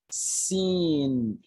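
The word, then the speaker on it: سين: Seen.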